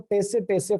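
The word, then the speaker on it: tsetse: For sleeping sicknesses सेसे फ्लाई, या फिर इसे बोलते हैं दोस्तों टेसे फ्लाई, करेक्ट प्रोनाउंसिएशन है सेसे फ्लाई।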